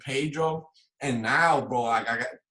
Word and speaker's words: Pedro: And I call Pedro is what it sounds like. Pedro is how you say it.